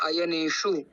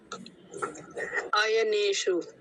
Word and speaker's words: अयनेषु: कि आपने देखा होगा आयने शु और सर्वेश तो इसके अंदर मुर्धन्य सकार है और मुर्धन्य सकार की